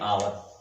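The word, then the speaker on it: hour: जगह पर यहाँ पर हावर कहा जाता है, लेकिन यहाँ पर यच साइलेंट है, इसका उच्चारण नहीं होता है आवर।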